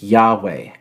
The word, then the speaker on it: Yahweh: of the writers was uh YH wh it's pronounced Yahweh and at a certain point that name YH